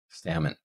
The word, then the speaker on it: salmon: So it's s, a, m, u, n, salmon. And this is also a case where we have a silent letter. So even though we have the L in spelling, we do not pronounce it when we speak this word.